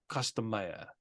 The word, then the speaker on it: Costa Maya: the second one there oh Costa Maya custom mayor that's how you say it right yeah yeah um